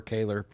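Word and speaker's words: Koehler: Some pronounce it Kohler or Kaler.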